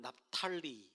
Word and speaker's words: 납달리: 이름을 납달리라고, 히브리어는 납탈리 이렇게 탈로 이렇게 발음하는데 납탈리 이렇게 했는데 8절에서 이제 그 납달리의 의미를 설명하고 있습니다.